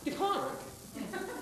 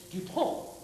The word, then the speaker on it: DuPont: It's not DuPont. It's DuPont. Well, there's a little bit more teeth. DuPont. Less teeth. DuPont. DuPont.